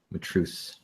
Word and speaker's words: Matreaux: Matreaux. Got it. Okay. Now I'll say it right from now on. Matreaux.